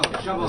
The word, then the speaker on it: Chabot: Oh, Shabo. Is this my Shabo? Yeah, Shabo. I just unplugged the Japanese one. Sure. Shabo.